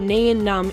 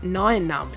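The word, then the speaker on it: Nien Nunb: at nian num and yes I did call it nion num in the past couple of episodes but I do apologize about that it has been since cleared up that it is actually correctly pronounced n num anyway we begin to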